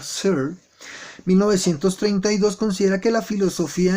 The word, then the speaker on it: Searle: Filósofos como John Searle, se escribe Searle, pero se pronuncia Searle, 1932 considera que la filosofía en la época